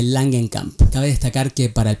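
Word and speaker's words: Langenkamp: episodio de este podcast pronuncié mal su apellido dije lunch Camp que de niño Siempre pensé que se decía así en realidad se dice langen Camp Cabe destacar que para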